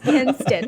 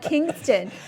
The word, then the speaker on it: Kinston: you need to tell Alex Trebek how to pronounce Kinston. It is not Kingston.